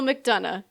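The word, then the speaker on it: McDonough: Neil Neil Mcdana if that's how you pronounce it.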